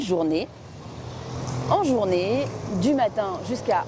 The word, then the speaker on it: journée: Le son « et » à la fin du mot « journée » est similaire au son « a » en anglais, mais en plus court. Bonne journée.